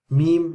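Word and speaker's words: ميم: Meme is the same as English. It's meme, like M. Meme, meme, meme. Just memorize the name of the letter, meme.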